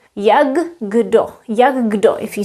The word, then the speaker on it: jak kdo: Actually, we pronounce K as the sound G. Yagdo. Yagdo. If you say it quickly, Yagdo. So it's not Yago.